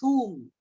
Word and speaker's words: whom: Don't write whom. We can pronounce H in whom.